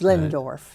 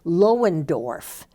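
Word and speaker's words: Loendorf: It's pronounced Lindorf.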